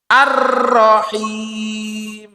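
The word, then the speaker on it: الرحيم: Allah subhanahu wa taala kemudian arrahim tasdid fauqor ro juga jadi Arrahman arrahim kalau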